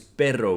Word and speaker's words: perro: the perfect example because the word for dog is perro with two r's perro and pero so you're gonna have to practice rolling your tongue tengo dos perros pero